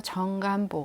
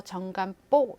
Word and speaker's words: 정간보: 봤으니까 그 정간 본대에 요즘 사람들은 자꾸 발음이 경험 화 되는 경향이 있어서 정감 뽁 이럴까 맞았는데 그건 틀린 발음이 고 요래 정간 아까 키보